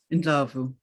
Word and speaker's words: Ndlovu: No, can you pronounce it for me? Ndlovu. Ndlovu.